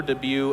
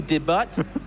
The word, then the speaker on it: debut: not quite the super debut of uh that's a French word de it's the t is silent could be debut but in a no it's debut debut de uh anyways beyond